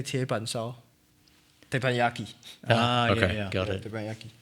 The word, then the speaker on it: teppanyaki: Teppanyaki.